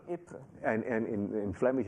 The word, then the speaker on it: Ypres: Ypres, or people sometimes call it vipers, which is not the right pronunciation. I promise. What is the French pronunciation? No, the French pronunciation is Ypres. Ypres.